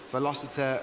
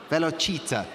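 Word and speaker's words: Velocita: racing taking it come I've been informed we're saying it wrong of course it is now I see it again silly me silly goose that I am but velochita racing sorry well done on on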